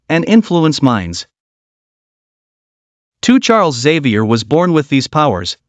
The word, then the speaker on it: Xavier: but first let's get one thing straight it's pronounced Xavier not Exavier Xavier is located in Cincinnati Ohio but our